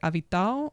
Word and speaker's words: Avital: But when he said it, the AL on the end, it's like Avital, Avital. Like it's a bit more like that.